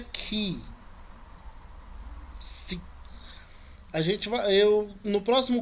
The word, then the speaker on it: chi: Esse aí que tá chi, a pronúncia dele é ki.